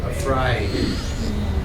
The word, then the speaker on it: afraid: e sound afraid okay don't try to say afraid say Aid afraid so this is a sound afraid like he I paid my bill paid I am not